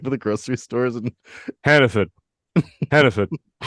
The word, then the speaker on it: Hannaford: Hannaford. If you're from Maine, you pronounce it like that. It's Hannaford, but it's Hannaford.